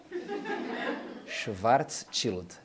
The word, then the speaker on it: Schwarzschild: Atenção à pronúncia. Schwarzschild.